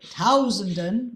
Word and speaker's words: Tausenden: So if you need one to be longer, tausenden, number one, it's the stressed syllable. Number two, it's a diphthong, right? It needs a lot more time than zenden, which are totally unimportant. Für hunderttausenden, right? Tausenden, it just swallows away.